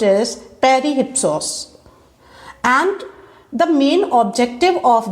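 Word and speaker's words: Περὶ ὕψους: On the Sublime is a Greek work of literary criticism, and in Greek language the term on the sublime is pronounced as perihypsos, and the main objective of this work is to define qualities of an elevated and great writing.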